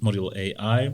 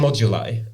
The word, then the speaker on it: Modulai: origins of of mod module AI is that the proper pronunciation so it's actually it's actually moduli and moduli you should